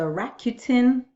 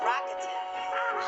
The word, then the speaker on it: Rakuten: You are on this video because you're checking out the Rakuten review.